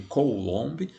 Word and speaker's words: coulomb: Se escreve coulomb, mas se lê coulomb, beleza?